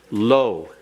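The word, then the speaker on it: לא: If you'll repeat the pronunciation after me, lo.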